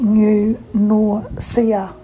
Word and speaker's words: New Norcia: town which is pronounced nature new nausea is pronounced new nausea The Abbey was founded by two Spanish Benedictine